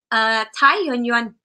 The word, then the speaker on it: Thái Doanh Doanh: Thái Doanh Doanh. Okay, Thái Doanh Doanh.